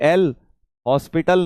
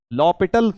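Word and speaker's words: l'Hôpital: को बता देना भैया कि एल हॉस्पिटल नहीं हैय कहीं व तुम दवाई लेने जाते हो व वाला हॉस्पिटल रूल लॉ पिटल रूल है एच साइलेंट है ठीक है भाई साहब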